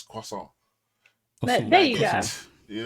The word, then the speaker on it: croissant: Go pronounce it. So I can't say croissant. It's croissant.